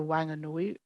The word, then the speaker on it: Wanganui: for the personhood of an important river, the Wanganui River. Am I pronouncing that right, Robin? Yes. Thank you. Wanganui.